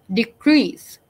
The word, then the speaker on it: decrease: And then you have words like decrease. So the first part, D, is short. Then crease, the second part, is stressed.